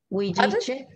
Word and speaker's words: Huilliche: Now you're going to have to help me with this pronunciation, because Marisol is an Indigenous Mapuche Huilliche, please correct me. Huilliche.